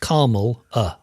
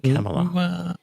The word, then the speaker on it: Kamala: It's pronounced Carmel. I thought it was like Pamela, but Kamala. No, Kamala.